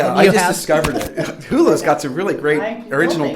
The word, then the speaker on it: Hulu: Yes, Hulu?